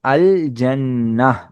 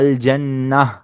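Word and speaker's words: الجنة: வந்து அல்ஜன்னா இது வந்து அல்ஜன்னா இந்த தா மர்புத்தாவ நம்ம ஹா சவுண்ட்ல ஏன் உச்சரிக்கிறோம் அப்படின்னா இந்த தா மர்புத்தா எண்டிங்ல வந்துட்டுனா நம்ம ஹா சவுண்ட்ல உச்சரிப்போம் இதுதான் இதடைய ரூல் அதனாலதான் நம்ம அல்ஜன்னா அப்படின்னு சொல்றோம் இந்த அல்ஜன்னா சொல்றதுக்கு காரணம்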